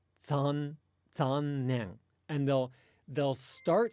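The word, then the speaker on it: 残念: At the beginning of a Japanese word, if a Japanese word begins with Z and there's no preceding sound, you actually say it kind of like the Z in pizza. So if I say the word for unfortunate, like zannen, if you listen carefully to a Japanese person say that, they won't say like zannen. They'll say zannen.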